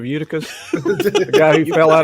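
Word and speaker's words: Eutychus: my church this morning kept calling calling him yucatus instead of uticus the guy who fell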